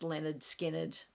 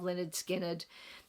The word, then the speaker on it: Lynyrd Skynyrd: The last one, the bonus 11th album, is the debut album by Lynyrd Skynyrd, pronounced Lynyrd Skynyrd, the title of the album.